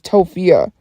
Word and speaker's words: Tophia: Like, I'm tired of my name being mispronounced. It's Tophia.